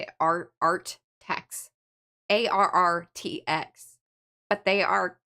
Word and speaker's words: ARRTX: Artx. ARRTX. But they are... Artex.